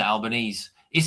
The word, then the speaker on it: Albanese: your your prime minister, Albanese, is it um how do you pronounce is it Albanese or Albani? This is what Alban Albanesei. It's Italian.